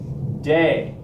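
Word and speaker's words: de: is d e and you pronounce it day now it's not referring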